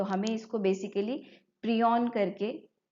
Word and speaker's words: prion: particle है ठीक है इसको हमें कैसे एक्चुअली में प्रोनाउंस करना है प्रोन ठीक है इस तरह से हम इसको प्रोनाउंस करते हैं तो हर एक